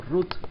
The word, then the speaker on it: root: raíz de esta parte la raíz también se pronuncia como ruth no de nombre de ruth guadalupe nacional ruth así de esta manera root esto significa en español